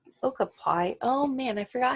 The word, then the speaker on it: okapi: little bit so these Ochopee or nope not saying it right okay okapi oh man I forgot